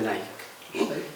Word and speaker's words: Nike: en la marca Nike todo el mundo pronuncia Nike pero evidentemente está reproduciendo la palabra griega niik que significacia Victoria aquí